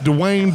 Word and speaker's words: Dwayne: Here's what's funny though: is it's Dwayne, but I don't know. I even pronounced it wrong. It's spelled like a one-syllable word. It's spelled like drain, but with a W instead of an Dwayne.